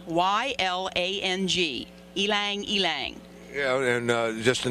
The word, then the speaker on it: ylang: I even had to look it up to find out how to pronounce it. It's ylang, Y-L-A-N-G, ylang.